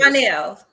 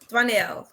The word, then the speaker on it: Dwanell: Oh, how do you pronounce it? Dwanell. Dwanell. Dwanell. Okay, Yeah. because I want to say Dwayne, but then with the L, it kind of throws you off.